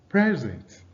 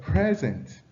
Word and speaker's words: present: Now you see the stress on the first syllable for present, while the stress on the second syllable for present.